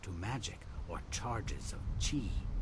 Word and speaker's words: chi: Some of them are said to react to magic or charges of chi. Okay. But it's actually pronounced key.